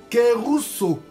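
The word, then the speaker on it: κηρύσσω: Kérousso. Kérousso. Kérousso, ça s'écrit K E avec accent circonflexe.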